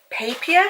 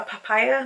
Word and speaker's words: Papier: So this is the Beauty Papier, is that how you say it, or papaya? No, I don't think it's papaya, it's papier.